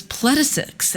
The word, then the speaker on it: Placidusax: and then it was Placidusax, and then it was Wow. I thought the X was silent. I thought the X was silent. I did not realize that in this case, you pronounce the X.